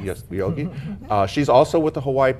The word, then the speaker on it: Yogi: Did I pronounce that correctly? Yes, Yogi.